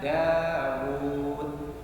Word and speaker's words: Dawud: Tapi wawunya sukun matnya pada Dawud ini diambil, makanya tulisan Dawud meskipun wunya panjang tapi nggak ada wawu sukunnya. Dawudu, tapi bacanya Dawud. Nah ini barangkali harus ditambahkan pada gharib Al-Quran. Ini kayaknya belum ada. Ya, ini Dawud, ya kan? Aslinya tulisannya Dawudu, tapi bacanya tetap Dawud.